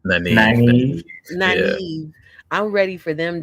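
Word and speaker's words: Nynaeve: Naive.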